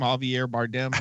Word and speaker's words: Javier Bardem: heavy our bar game how do you say that name Javier Bardem there you go good you actually just nailed it with that so he